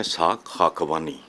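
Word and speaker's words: Ishaq Khakwani: पहली बात तो ये है कि आपने ठीक उनका नाम नहीं प्रोनाउंस किया है, इसहाक खाकवानी।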